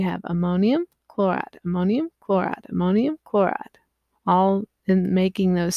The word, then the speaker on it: ammonium: So in this case, you've got ammonium, which is this ion, NH4. It's on the list of things you need to just memorize, not to be confused with ammonia. Ammonium, 4 syllables, 4 H's, okay?